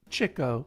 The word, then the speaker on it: Chico: with jeff and finally look this is chico that's how it's pronounced by the way chico zeppo groucho and